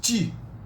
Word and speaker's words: te: Then we have te, which also pronounced ti.